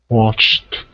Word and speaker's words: watched: watched watch it watched watched very good so it should sound like a t at the end okay so actually it